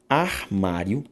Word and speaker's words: armário: A sílaba tônica delas, qual que é? Armário, ma. Carie, ca. Necessário, sa. Necessária, sa.